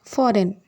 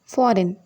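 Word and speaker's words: foreign: Next word ஃபாரின். ஃபாரின். இங்கேயும் ஜியோட sound வராது. ஃபாரின் அப்படின்னா வெளிநாடு அப்படின்னு அர்த்தம்.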